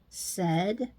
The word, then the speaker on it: said: this word is said SED and H Ed said head and lastly you've got the o sound